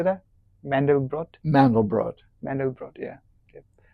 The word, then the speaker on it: Mandelbrot: Mandelbrot?